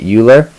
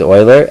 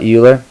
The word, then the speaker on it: Euler: period of time while I was calling it Euler um I apologize for that it is Euler I will not be upset if you call it Euler um just know that it is pronounced Euler and I might have been pronouncing this wrong